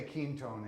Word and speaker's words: Quinton: I say Quintone in honor of René Quintone, because in France that's how it's pronounced.